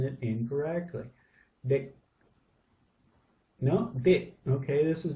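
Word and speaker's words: เด็ก: Now I've always said deck for child. This looks like it's dick, dick, dick. More of an I sound than an E sound.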